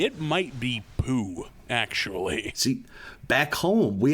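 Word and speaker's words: Pugh: with that last name I think they pronounce it Pew like as in like p-e-w oh like church pew like like what a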